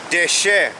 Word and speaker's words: deshe: The pronunciation is deshe, and Strong's H 1877, and the definition is new grass, green herb, and vegetation.